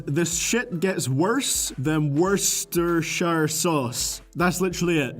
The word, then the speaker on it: Worcestershire: shit gets worse than Worcestershire sauce. That's literally it. The joke is that the first syllable in Worcestershire sauce sounds like the word worst.